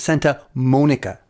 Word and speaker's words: Santa Monica: It's Santa Monica.